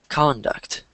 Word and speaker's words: conduct: You just stressed the second syllable instead of the first. Um, which it's in the first line right here. So, this word is pronounced like this. Conduct.